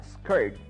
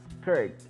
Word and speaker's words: skirt: Cuando hay una palabra muy chiquita de una sílaba que tiene solo la vocal I, se pronuncia esa I entre I y E. Skirt.